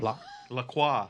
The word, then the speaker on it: LaCroix: what they say here in America is LaCroix, and the company says it's LaCroix.